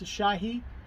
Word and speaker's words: Asahi: would have had this this is uh it's pronounced a Shahi some I think it's shy into it's a